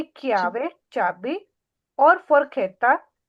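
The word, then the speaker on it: chiave: लगाया हुआ है क्योंकि अगर हम आका नहीं लगाते तो ची ई आ वी ए तो क्या बनता दीपी चियावे चियावे फिर बन रहा था चियावे तो क्योंकि ये लफज़ की प्रोनाउंसिएशन सही नहीं होती जहां पे हमें काफ की आवाज की जरूरत होती है तो वहां पे हम दरमियान में आका लगा देते हैं जैसे कि क्यावे चाबी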